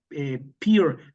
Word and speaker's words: Pere: Dice así, Luciana, sí, Peer, opera, haciendo la pronunciación al catalán.